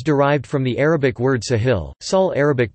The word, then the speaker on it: ساحل: The name is derived from the Arabic word Sahil, Sahel Arabic pronunciation, Sahil meaning coast or shore in a figurative sense